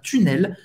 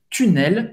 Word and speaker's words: tunnel: Você vai ter que fazer esse U em francês para pronunciar tunnel, tunnel, U. Faz a boca do U e fala I.